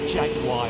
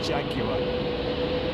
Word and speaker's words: Jaguar: Oh my god, and not Jaguar either, it's Jaguar.